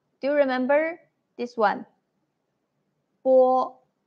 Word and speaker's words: 波: Bo. You need to use both of your lips, and there is no airflow.